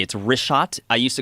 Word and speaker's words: Richat: Yeah, in the first couple, I just want to say it's Richat. I used to call it Ricot. I was mispronouncing it.